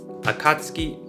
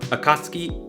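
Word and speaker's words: Akatsuki: akatski to akatski akatski I also chose this word because in this example it's actually kind of hard to hear the difference between a and a akatski akatski akatski akatski akatski it's it's hard you start to like blend the vowels together at least I do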